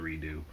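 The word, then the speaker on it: redux: you redo there's one be spelled re d ux but still pronounced to redo which while I'm doing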